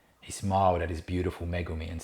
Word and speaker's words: Megumi: you who've read it we're probably pronouncing it magumi well you know that's probably the english way of saying it the aussie way um megumi i'm sure would sit better in japanese so i hope i